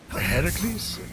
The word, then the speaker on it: Heracles: That thing with your voice? Heracles? Yeah, that! That is how it's supposed to be pronounced.